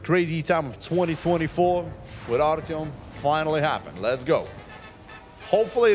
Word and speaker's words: Artyom: A-R-T-Y-O-M. Artyom. Yeah. That's pretty much it. Just Artyom.